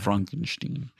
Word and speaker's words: Frankenstein: Frankenstein. It's pronounced Frankenstein.